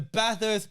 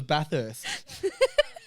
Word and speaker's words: Bathurst: I thought it was Bathurst. Yeah, correct me. So, Bathurst Bush Rangers, not Bathurst. Yeah, right. You're giving the H a little bit too much love.